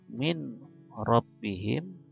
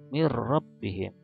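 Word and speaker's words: من ربهم: Min rabbihim dibacanya mir rabbihim.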